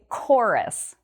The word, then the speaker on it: chorus: We also have this word next, chorus. And the CH here, it sounds like a K sound, like a K sound. We say chorus.